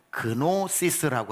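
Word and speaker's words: γνῶσις: 이 알다라고 하는 것은 헬라어로 그노시스라고 하는 단어입니다. 그노시스라고 하는 게 KNO 이렇게 시작을 하거든요. K는 묵음입니다. 그래서 노시스, 그노시스라고 하지만 여기서 노스티시즘 이런 게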